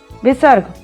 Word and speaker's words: विसर्ग: विसर्ग, यह अयोगवाह किसी भी अक्षर के सामने लगाया जाता है। इसका उच्चारण आधे हा के समान होता है।